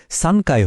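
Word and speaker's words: 三階: এখানেও 3এর সাথে মিলে উচ্চারণটা একটু বদলে সানকায় হয়ে গেছে।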